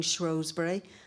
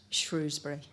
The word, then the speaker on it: Shrewsbury: Maybe we should move towards it being Shrewsbury, and rather than having a shibboleth that's difficult for visitors and for foreigners visiting our lovely town, it should make it easy for people. Say what you see, in modern English, Shrewsbury.